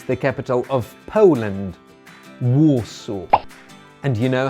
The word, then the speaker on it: Warsaw: Finally, the capital of Poland is pronounced Warsaw.